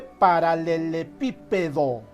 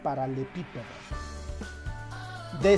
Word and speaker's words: paralelepípedo: es inapropiado cometer apología se dice paralelepípedo y no para le pica de similar modo la palabra